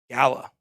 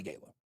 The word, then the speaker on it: Gala: Gala. I like to say Gala, but whatever. Gala, 64.9%. British people pronounce it Gala. Americans pronounce it Gala.